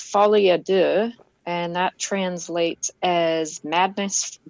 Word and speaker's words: Folie à deux: And it's not that my pronunciation is going to be perfect at all, but it is Folie Deux.